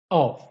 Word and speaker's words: of: fan fan van van off off of of. لاحظ هنا عندي off بحرفين f دبل f بنقولها off، وبحرف واحد بننطقها v of of.